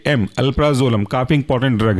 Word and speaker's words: अल्प्राजोलम: example है आपका व है अल्फ्रा जोला म अल्प्राजोलम ए एल पी आर A alpha और जोलम जेड ओ एल ए एम अल्प्राजोलम काफी इंपॉर्टेंट ड्रग है अल्प्राजोलम के बाद नेक्स्ट